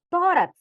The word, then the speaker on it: tórax: Por que que, vamos lá, tórax é acentuado? Porque é uma paroxítona terminada em X, certo? Então você tem que identificar. Tórax, você já sabe que é a penúltima sílaba mais forte.